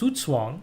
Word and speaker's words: Zugzwang: Okay, it's a German word. It's pronounced Zugzwang, actually. Zugzwang, yeah.